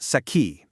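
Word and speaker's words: sakhi: She was Usha's saki. That's spelled s a k hi, which is a Sanskrit word for a really, really close girlfriend.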